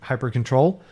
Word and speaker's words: hyprctl: And it's very frustrating because the command for configuring Hyperland is hyprctl, like hypercontrol.